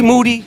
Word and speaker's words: Moody: Moody, last name rhymes with duty, will be joining me shortly.